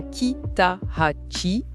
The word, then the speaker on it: Kitahachi: Et c'est Kitachi qu'on prononce bien Kitachi.